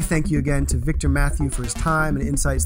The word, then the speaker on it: Mathieux: then um if you Google my name Victor Matthew and spell that out for us again uh Victor yeah